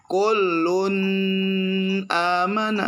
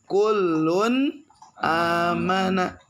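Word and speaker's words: كُلٌّ آمَنَ: kita lihat di kitabnya Kun amana bukan klun amana enggak begitu kullun amana Kenapa dibaca kullun amana karena ada tanwin tuh Un tuh ya lihat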